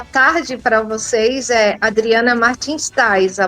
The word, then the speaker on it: Tijs: Adriana Martins Tais, a pronúncia, né?